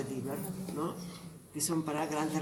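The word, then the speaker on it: Deaver: Luego tenemos los separadores de Diver o de Haber, se escribe de Haber, se pronuncia Diver, ¿no?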